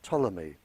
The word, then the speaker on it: Ptolemy: in Egypt by the name of Ptolemy spelled with a P he very famous scientist